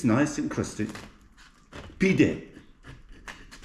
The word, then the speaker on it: pide: Pide, the way to speak in Turkish.